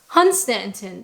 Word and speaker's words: Hunstanton: So that one, you actually say it the way that it's spelled. Hunstanton.